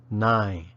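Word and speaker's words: နိုင်: ability to do something the first particle sounds just like the number 9 with a barely discernible final in sound 9 the second sounds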